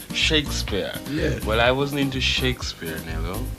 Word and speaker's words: Shakespeare: shisp or sh yes nobody in the Caribbean have I ever heard say shakas spear they said Shakespeare they said Shakespeare well I wasn't into Shakespeare Neo not you didn't